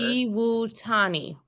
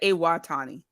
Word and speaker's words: Iwatani: Iwutani. Thank you, SP. See, that's what we need to for, friend. I said Iwatani. Iwutani. See, SP's just here to help us with pronunciation and correct us.